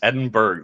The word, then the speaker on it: Edinburgh: Edinburgh or Edinburgh it's Edinburgh there's no h at the end oh that's horrible right